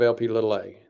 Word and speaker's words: LP(a): Most people have not heard of LP(a). That's how you pronounce it.